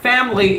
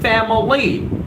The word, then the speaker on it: family: Ganesha it's not family remember the word family is not divided into three syllables the word family is not divided into three syllables well for your confirmation the word families you want into two syllable it's not family it's family and I'm talking about